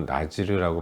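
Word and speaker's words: נזיר: 어제도 말씀드렸지만 나실인이라는 것은 히브리어로 나지르라고 발음하는 단어인데 특별한 서원 특별한 하나님과의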